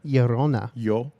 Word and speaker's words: Llorona: Llorona. Llorona. Yeah. Yeah. Yeah. So Like I only Corona, but with a yo.